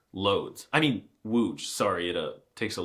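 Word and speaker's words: Łódź: If you said wooge, you're correct. Congratulations. See, it was easy. You see, the L with a stick going through it makes a W sound.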